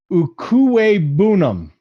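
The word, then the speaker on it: Okwuegbunam: arnold now we're going to albert so albert ukue boonum that's how you say it so just call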